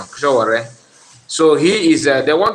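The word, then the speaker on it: Sowore: Not Showore, Showore, yeah, Showore, that's the correct pronunciation, Showore.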